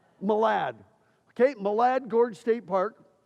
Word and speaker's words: Malad: Is that Do you pronounce it Malad? Malad.